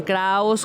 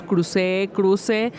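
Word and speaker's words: Kruuse: Y como ese apellido se puede pronunciar como a ustedes les complazca. Entonces, he escuchado a algunas personas que le dicen Kraus, Cruce. Entonces, realmente hay como flexibilidad en la pronunciación de Cruz.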